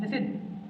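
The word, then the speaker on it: listen: F part, लिसन, इसमें T silent है।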